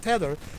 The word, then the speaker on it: Tether: the tether shot yes i'm pronouncing it right now not teeter but tether like leather yeah somebody taught me